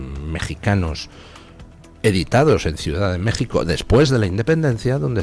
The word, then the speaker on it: México: Son infinidad los libros mexicanos editados en Ciudad de México después de la independencia, donde se escribe México con J. Se ha estado escribiendo indistintamente con J o con X, que se pronuncia J, pues toda la vida de Dios.